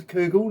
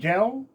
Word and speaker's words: Kugel: It is Kougall, not Kel.